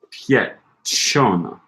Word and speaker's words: piacciono: Accent on the A of Piacchiono. Piacchiono. Piacciono.